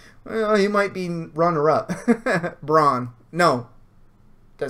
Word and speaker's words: Bronn: Bronn. No. Did I say that wrong? Yeah, Bronn.